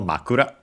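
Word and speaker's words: 枕: We check the accent. Okay. Accented on the first syllable makura.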